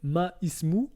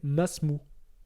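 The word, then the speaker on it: ما اسمُ: Donc en gros, ça va pas nous donner ma ismou, mais ça va nous donner masmou. D'accord? Le alif devient muet. Je répète, on ne dit pas ma ismou, mais on va dire masmou.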